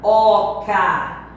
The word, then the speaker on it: oca: Ele mora numa oca. Tem muita criança que está dizendo C-A é sa, mas é K. Oca.